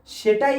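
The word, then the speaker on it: ثاء: সা উচ্চারণ হয় এই জিভের আগা এবং সামনের উপরের দুই দাঁতের আগার সাথে লেগে, এই যে সা সা সা।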